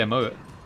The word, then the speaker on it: emote: i am so yeah i never love how you pronounce them as emote by the way i i just i just i just say a mo but you're like like proper emphasis on the e i find it really